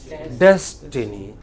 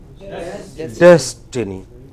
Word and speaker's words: destiny: Similarly, you know, here des is given prominence.